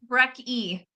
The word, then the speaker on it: Brecky: Brecky. Brecky. Okay. Rhymes with Becky.